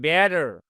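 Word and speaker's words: better: এখানে আমেরিকান বলবে বেটার, বেটার। এই টি সাউন্ডটা ড এর মতো হবে, সফট জি সাউন্ড হয়ে যাবে। আর ব্রিটিশরা বলবে বেটার, থা উচ্চারণ হবে।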